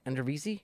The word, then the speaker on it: Eredivisie: And there's like Ricardo Pepi just finished, I think, 2nd or 3rd in goals in I can't pronounce it. What's the Dutch league? Eredivisie?